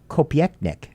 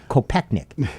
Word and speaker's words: Kopechnik: Does the name Julianne Kopieknik ring a bell? Kopechnik.